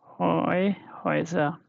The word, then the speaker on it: Häuser: Häuser. Yeah. Häuser. Yeah. Häuser. So houses, how it will be pronounced?